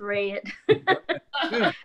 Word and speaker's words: Reed: fun fantastic uh simone i had you down to simone red he says you're simone reed i hate if i butchered your name that's indiana talking it's red um i do want